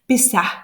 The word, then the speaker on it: Pessah: Et donc, Pessah, en hébreu, il faut prononcer le H, Pessah, ça veut dire le passage.